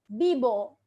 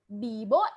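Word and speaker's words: vivo: how to say that bibo in mumbai so v is said as b d for boy bibo and mumbai okay bibo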